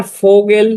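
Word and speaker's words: Vogel: যদি আমি একটি সেন্টেন্স দিয়ে উদাহরণ দিই সেটি হচ্ছে দেখুনার ফগেল ফ্লিড।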